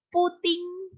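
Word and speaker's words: 布丁: nambah puding berarti C puting puting Aduh bahaya ini yang menyeutnya ini puting tapi memang bacanya gitu puting puting puting puting jadi puding tapi dibacanya puting gitu ya Cia puting gitu Cia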